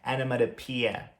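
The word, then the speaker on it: onomatopoeia: Eu sei que você vai querer falar onomatopeia, mas não, a pronúncia é onomatopeia. Então você vai pronunciar o finalzinho dessa palavra como pia, como a pia que você lava a mão mesmo.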